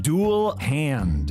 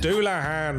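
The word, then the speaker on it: Dullahan: It's pronounced ein hair-jar. Say tires? It's satyrs. Okay, I think I got this one. Dual hand. Doulahan.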